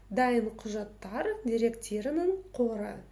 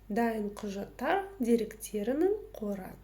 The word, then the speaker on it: Дайын құжаттар деректерінің қоры: Дайын құжаттар деректерінің қоры. Дайын құжаттар деректерінің қоры. Дайын құжаттар деректерінің қоры.